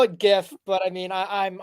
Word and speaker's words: GIF: the market down podcast do not pronounce it gif okay we're not 12-year-old morons okay uh we say GIF James the man who